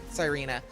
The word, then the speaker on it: Sireena: both these teams going back and forth and even talking about Sireena and apologies for the mistakes on for my mistake on the pronunciation that is pronounced Sireena.